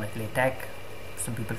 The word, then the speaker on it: LaTeX: Arabic uh if you don't know how to pronounce that you can call it latch some people call it latex but that would be really wrong because it's it's not latex the rubber it's at best latch anyway it takes in the latex source and